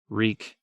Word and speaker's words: Reek: to remember his name reek my name is reek it rhymes with weak they were just outside